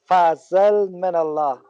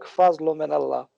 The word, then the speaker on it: Fazelminallah: It's pronounced as Fazelminallah, or in Arabic, Fazluminallah.